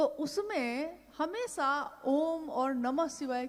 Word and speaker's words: ओम: हुई उस ध्वनि की आवाज थी अ उ म अगर एक साथ सुना